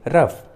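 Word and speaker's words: rough: जी एच रहते हैं, जब भी किसी इंग्लिश वर्ड्स के लास्ट में जी एच एक साथ रहते हैं तो जी एच का उच्चारण फ होता है, फ। जैसे रफ, कफ, टफ, इनफ, लॉफ,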